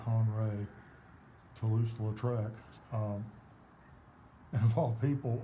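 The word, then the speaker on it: Henri de Toulouse-Lautrec: or the life of they pronounce it han ray toulouse latrek um and of all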